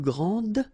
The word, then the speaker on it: grand: Okay, so phonetically, what you can hear is that this first form here for the masculine, grand, so you don't pronounce the final D, will be exactly the same as the plural form for the masculine, grand.